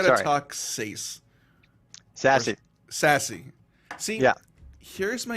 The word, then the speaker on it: SASE: And according to Gartner and these groups that talk about it, it's pronounced sassy, bro.